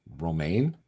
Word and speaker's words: Romain: It's Romain, like the salad. Romaine? Yeah. Like the lettuce? But then you just say it in French, and then it's Romain.